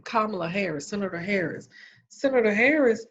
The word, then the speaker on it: Kamala: d scheduling but then he picked kamala a karma i'm sorry miss pronouncing name kamala hair senator harris senator harris is the lead